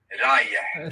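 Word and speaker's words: رايح: The word for going is rayeh. Rayeh. Very well pronounced. Rayeh. I feel like there's a letter on the end that is not like a regular H sound, and I hope he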